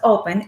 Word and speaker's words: Οπe\n: on leading edge technologies it is pronounced open and has a mission